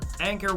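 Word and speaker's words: Anker: got to go for anchor ones are pretty much the best bet yes that's actually how you pronounce that brand I only learned that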